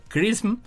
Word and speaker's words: XRISM: Un nuevo satélite llamado Misión de Imágenes y Espectroscopía de Rayos X, o el acrónimo XRISM, por sus siglas en inglés y que se pronuncia CRISM, tiene como objetivo separar